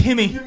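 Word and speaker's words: Jimmie: Yimmy Rivera taking on Thomas. Did you say Yimmy? You fucking said Yimmy? It's the Brazilian pronunciation. Yimmy Rivera. It's Himmy. It's Yimmy Rivera. Avera, yeah. Himmy Rivera.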